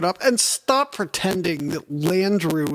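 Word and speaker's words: Landru: and stop pretending that Landrieu is this exotic name it rhymes with Andrew yeah I I again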